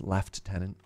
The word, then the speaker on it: lieutenant: know a lieutenant surge in Canada it's pronounced left tenant I swear oh graze